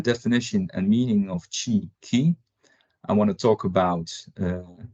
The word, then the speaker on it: ki: roots in Korea so I prefer to use the Korean way of pronouncing chin and that is key and as you see